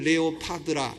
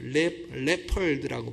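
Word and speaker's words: leopard: 표범이에요 표범 표범을 우리는 레오파드라 레오파드 구두 상편과 모르겠는데이 표범이란 말이죠 레오파드 오자는 파르마 하면 안 돼요 레펄드라고 발음을 표범이 나오는데요이 표범이 날개가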